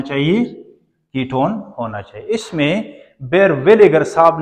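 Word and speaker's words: Baeyer: इस रिएक्शन, इसका एग्जांपल है बी ए ई वाई ई आर बेयर विलिगर, इसको यू प्रोनाउंस करें, जर नहीं है, सही है।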